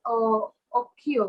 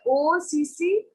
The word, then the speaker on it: occhio: Occhio. occhio? Correct. So it's OCCIO, right? Correct. No, OCCHIO. OCCHIO, Occhio. Occhio. But CHI is key, right?